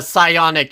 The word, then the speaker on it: psionic: that we have done the psionic Shell with the silent P by the way a